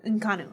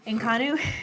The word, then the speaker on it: Inconnu: in naaku the groups how you say it in common in Connick okay that's how I wrote it down but it sounds stupid inconnue I was looking through